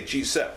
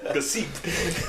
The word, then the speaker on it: Gsep: I just say Gsep. All right, I'm just making sure. That's what I see. Like maybe it's not even that. It's like some other pronunciation. Yeah. Gsep. Gsep.